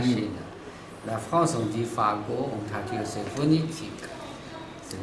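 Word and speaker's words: 法国: En chinois, on dit fa, go, fa, fa. Go, c'est G-U-O. Voilà, c'est la Fago.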